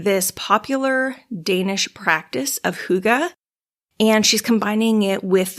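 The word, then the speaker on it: hygge: living so the very last one is holy Huga it's spelled h y g g e it is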